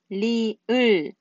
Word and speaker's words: 리을: Okay, the next one is 리을. 리을. But here we are. There is R actually, but you would better to pronounce like L.